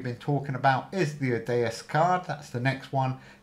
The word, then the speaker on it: Odysseus: And on the draw, your Odysseus card, that's how you say it, wherever it is, costs minus 1 permanently.